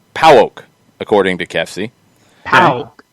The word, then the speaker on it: PAOK: it is pronounced PAOK, according to Kefsi. Pow. Pauk. Yeah, Pauk.